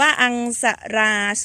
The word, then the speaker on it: Aungsara: a r a 09 อ่าน ว่า อัง สะ รา 09 กับ เมล็ด พร้อม